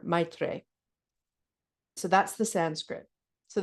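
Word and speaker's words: मैत्री: The Sanskrit is pronounced Maitre, if I get that right. Sort of like Maitri or Maitre.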